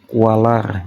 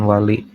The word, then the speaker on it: walar: Tapi saya enggak kurang setuju kalau dibacanya tapa kawali karena di sini enggak ada bunyi i, enggak ada tanda i. Adanya tanda r jadi walar bukan li, bukan wali.